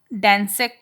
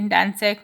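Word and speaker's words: Gdańsk: After um, Dansek, you can say Dansek, maybe G silent, agreement was signed, a new trade union called Solidarity.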